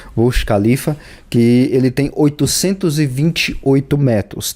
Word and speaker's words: Burj Khalifa: Eu acho que é assim que é a pronúncia, Burj Khalifa, que ele tem 828 metros, tá?